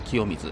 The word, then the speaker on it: 清水: は読みにくいし、清水って東日本では普通「清水さん」って読むんだよね？しかしここでは「清水」と読まれる。